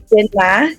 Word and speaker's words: Chidinma: My name is Chidinma.